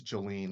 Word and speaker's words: Jolene: I understand it's Jolene is the proper pronunciation of the first name.